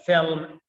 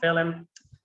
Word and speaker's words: film: Similarly with film, it's not film.